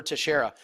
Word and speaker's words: Teixeira: Any thoughts on Old Man Teixeira, I think is how you say that, to come out victorious as an underdog this weekend?